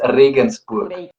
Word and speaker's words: Regensburg: You pronounced it very well. It's Regensburg.